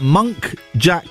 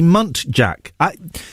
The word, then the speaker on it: muntjac: I recently found out that monk jack deer are actually muntjac.